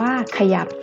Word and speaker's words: ขยับ: รักษา ที่ 1 ค่ะ พยัญชนะ ตัว แรก ของ คำ จะ อ่าน ออก เสียง อะ กึ่ง เสียง เดี๋ยว เรา ไป ดู ตัว อย่าง คำ กัน นะ คะ เช่น คำ ว่า ขยับ อ่าน ว่า ขยับ จมูก อ่าน ว่า จมูก